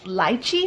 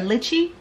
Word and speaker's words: lychee: it looked compared to i think it's pronounced lychee or litchi so if you look